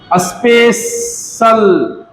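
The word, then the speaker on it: special: तो CIAL और TIAL दोनों का उच्चारण जो है शल होगा, लेकिन TIAL कब लिखाएगा और CIAL कब लिखाएगा, इसको ध्यान देना है। देखिए, स्पेशल, स्पे, ए, तो ए साउंड आ रहा है तो स्पेशल, तो शल के लिए यहां पर क्या लिखाया?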